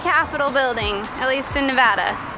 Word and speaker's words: Nevada: home of the Capitol building at least in Nevada pronouncing the ball get out you are wondering it's